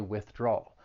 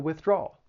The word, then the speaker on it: withdrawal: trouble pronouncing this word it has three syllables the stress is on that second syllable that draw but it's